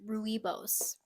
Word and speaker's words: Rooibos: me no milk my mom loves it's actually pronounced Rooibos I thought it was Rubio's too however you say it it's uh there's